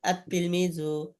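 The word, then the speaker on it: التلميذ: এরকম ভাবে আত-তিলমিজু, আত-তিফলু, আস-সাআতু, আজ-জাহরাতু, এরকম সবই একই রকম, বুঝতে পারছেন?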